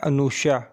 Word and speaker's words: Anosha: हम welcome to baby नेमस diary नाम है अनुषा अनुषा नाम के इंग्लिश में स्पेलिंग है एन ओ एस एच ए अनुषा